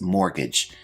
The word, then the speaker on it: mortgage: Our first term is mortgage. Now this word has a silent T which I've highlighted in the word.